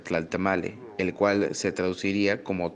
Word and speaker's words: Tlaltamalli: will real está mal se escribe está el tema allí pero se pronuncia tal está mal el cual se traduciría